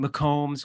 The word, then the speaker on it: McCombs: bit of trouble pronouncing McCombs I hear people say mccoom's like it's you know Canon